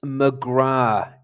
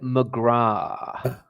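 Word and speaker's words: McGrath: It's McGra. It's an Irish name. You do not pronounce the at the end of it.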